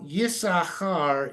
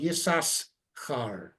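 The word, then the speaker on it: יששכר: Now, Yisachar is usually the way it's pronounced, but you'll notice it's actually spelled Yisaschar. Mm-hmm. But there's no shva put in there by the vocalizers telling you not to pronounce it. But since there's no vocalization in the text, we don't know if it was Yisachar or Yisaschar. Mm. But we say now Yisachar.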